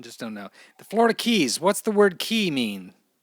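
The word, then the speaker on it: cay: It's actually key, like Florida Keys.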